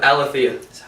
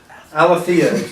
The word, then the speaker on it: Aletheia: And I'm here today with a new band of old band members, and I can't pronounce their name, so I'm going to let you It's Aletheia. Aletheia.